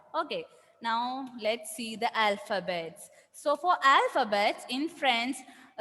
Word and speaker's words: alphabet: Yes, that is why we are not saying alphabet. Instead, we are saying alphabet. We are not pronouncing that T.